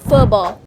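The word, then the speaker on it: Phở bò: I know how to pronounce it now. Mama ordered pho bo, one of the standout noodle soup of Pho Hung.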